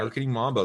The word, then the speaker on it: Marketing Mambo: Mambo podcast is that how you say it marketing Mambo yep that's right marketing Mambo that's a fun name uh well welcome again